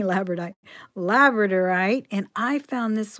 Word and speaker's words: labradorite: I'm trying to get that extra syllable in there. I keep saying labradorite.